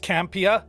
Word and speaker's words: Campea: quick watch so yeah so first it is pronounced campia although i kind of flip between the two